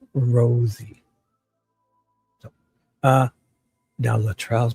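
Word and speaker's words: Rozzi: Rossy. Mr. Rosy. Rosie. Ros. That's basically what he did there. He's probably saying it wrong. Rosy. No. Rosy. Rosie. Like a rose. Every rose has a thorn.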